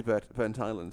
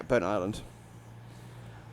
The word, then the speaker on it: Burntisland: Because before I learned Scottish pronunciation, I used to call this Burntisland. Or basically Burntis land. Because I didn't... Look, if you want us to pronounce something as 2 words, write it as 2 words, not as 1.